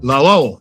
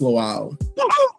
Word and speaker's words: Lawal: Please help me welcome the angelic troublemaker himself, Lol. Now, did I say your last name correctly? Yeah, it's pronounced lal.